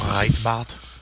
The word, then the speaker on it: Breitbart: But the measure has stirred opposition from the alt-right publication Breitbart. Breitbart. I don't know why. The way it's spelled makes me want to say it with a German accent. It's Breitbart.